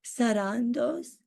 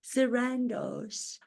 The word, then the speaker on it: Sarandos: pronounce your last name sarandos I don't believe so I think they pronounce it Sandos I pronounce it the way it's meant to be pronounced authentically sarandos as it spelled phonetically that's what I have